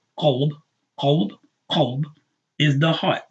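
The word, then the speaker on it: قلب: The one that's pronounced qalb, qalb, qalb, is the heart.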